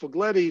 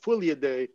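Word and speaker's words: Fuglede: uh of fugletti now his name is not really pronounced fogletti so uh people from scandinavia tell me that it's pronounced something like fully a day but when they say fourier day nobody knows what i'm talking about so i say forgletti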